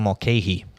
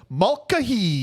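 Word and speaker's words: Mulcahy: No, it was directed by Russell Malke. I'm glad you pronounced that name because I was going to be like, Mahee.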